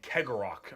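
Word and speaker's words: Cegorach: by their god named Kegorok, I believe is how you pronounce his name.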